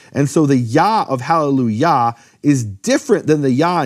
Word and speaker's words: Hallelujah: And so the Yah of Hallelujah is different than the Yah in Yah-weh. In fact, in English churches, they pronounce the Yah of Hallelujah correctly. They don't say Hallelujah. They say Hallelujah.